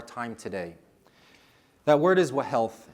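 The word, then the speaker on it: whealth: That word is wah health. And I'll overpronounce it so that you hear the h in that word. W H E A L T H.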